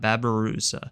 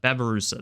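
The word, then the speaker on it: babirusa: is so a bat babarusa babarusa that's how you say it I've been saying it wrong this whole time I'm sorry sorry if you're watching this video babarusa all right lastly we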